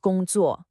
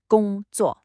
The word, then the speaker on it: 工作: It's a first tone, then a fourth tone. Listen, 工作, high and flat, then a sharp drop. A very common mistake is to let that second syllable stay high, making it sound like 工作. That's not right. You gotta hit that falling fourth tone, 工作.